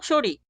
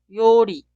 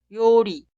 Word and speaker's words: 요리: La palabra que significa acción de cocinar y plato de comida no se pronuncia 요리, tampoco 쇼리. Debe escribir y pronunciar 요리, 요리.